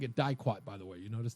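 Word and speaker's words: diquat: You know, it's not a long I if it's followed by a consonant and then a vowel, even if it's UO. It's not die, it's D.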